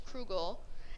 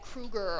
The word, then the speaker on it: Krugel: Okay, so this is funny because my last name is Krugel, and nobody knows how to pronounce it. So, like, I would get Kruger all the time.